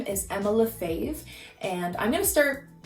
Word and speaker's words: Lafave: to pronounce it because it is spelt nothing like it sounds it's french it's my husband's name love faith just just think that